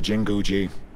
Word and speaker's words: Jinguji: he keeps going jingoish i'm here welcome to jinguji aha was right on the pronunciation i'm so awesome can i talk to